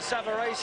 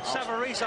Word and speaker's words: Savarese: trail against Lou Samarese, as we will call him. The Italians behind us are pronouncing it Savarese, and that'll do for me, Frank. Savarese, I believe, is the American pronunciation, but we won't worry about that.